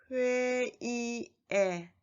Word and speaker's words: 회의의: And the second and the third 의 is a possessive particle, so it is pronounced as 에. 회의에, 축제에.